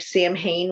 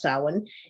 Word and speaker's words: Samhain: And it is, even though it looks like Samhain when typed out, it's pronounced Samhain in the old Celtic language.